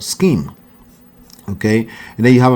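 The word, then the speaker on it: SCIM: but it's called scheme don't pronounce it out if you go to an interview just say scheme they understand what you're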